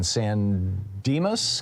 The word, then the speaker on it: San Dimas: Dave in San Dimas, California.